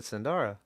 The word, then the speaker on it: Zandra: Is it Zandra or is it Zandara? You know, I've always said Zandara.